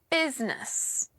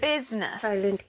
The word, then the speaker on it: business: One, business. What is business? We don't pronounce the vowel sound in the middle.